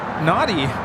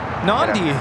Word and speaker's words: Nadi: Headed out to Nadi. Nandi. We were having a debate about that. Proper pronunciation.